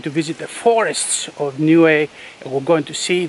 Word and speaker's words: Niue: Today I'm in the South Pacific and I'm in the truly exotic island nation of Niue. It is spelled N-I-U-E.